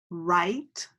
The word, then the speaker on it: write: rap our next word is right right and it has five letters but the W is silent so we have a